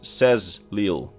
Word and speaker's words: Sexil: Think about the word sexil, which is usually pronounced as says leil. So the H is completely silent and the the X's get pronounced as a Z's.